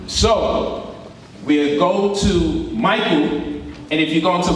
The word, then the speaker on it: Michael: And then you'll have Michael, and the CH sounds like a K, right?